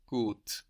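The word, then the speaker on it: gut: word for good is good g u t and that U gives us a long o sound likeing food good good my neighbors are good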